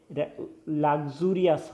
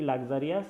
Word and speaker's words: luxurious: তাহলে এ লাক্সুরিয়াস হবে, এটা আমরা লাক্সারি বলে থাকি, লাক্সারিয়াস, এর উচ্চারণটা লাক্সুরিয়াস।